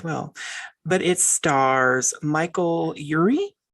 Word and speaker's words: Urie: but it stars michael urie is that how you say his name yuri yeah um and philemon chambers philemon